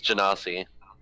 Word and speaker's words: Genasi: D&D Beyond says Ganassi.